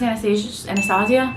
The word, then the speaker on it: Anastasia: For brow gel, I just use this Anastasia, that's how you say it, one.